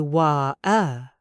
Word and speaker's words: water: I have heard British people say wa-er instead of wa-ter. You are correct.